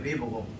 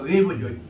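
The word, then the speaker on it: Weber: 독일 발음을 이 W자가 V자 발음되니까 베버고 미국식으로 하면 W자 U 발음이니까 웨버죠.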